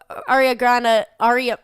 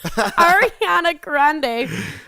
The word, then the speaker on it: Ariana Grande: So Aria Grande. Whoa. What's Aria Grande, huh? Ariana Grande.